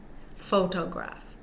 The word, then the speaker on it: photograph: example photo photograph photograph in photograph the first syllable fo is a primary stress and the last syllable graph is of secondary stress both syllables are stressed but fo is stressed more so than graph thewwa so when we're